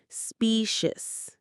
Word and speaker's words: specious: The stress is right at the beginning on that specious.